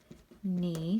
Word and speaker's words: knee: My knee, spelled with a K, but you can't hear it, it's silent.